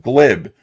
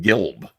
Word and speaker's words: glib: about, and I said, "This person is acting kind of glib." And when Alasmat read my tweet on the video, he he pronounced it Gilb. Uh, and I I just wasn't even listening, but he pronounced it Gilb like a